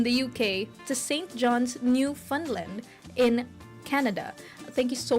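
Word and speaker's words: Newfoundland: radio and new fundland because it's spelled New Foundland which is not how you say it mm according to Canadians thank you Canadian thank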